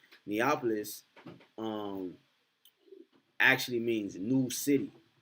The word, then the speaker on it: Neapolis: now neopolis uh neopolis i just said neopolis neopolis is how you say it neapolis um actually means new